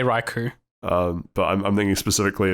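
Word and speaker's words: Raikou: is raiku man riko how do you say that one I I say raiku yeah I also say raiku um but I'm thinking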